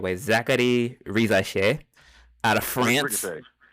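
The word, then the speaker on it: Risacher: Zachary Rizaché out of France. Ricochet is correct.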